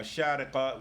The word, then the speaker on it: Sharjah: in a place called Sharjah, or Sharqa will be the correct Arabic pronunciation.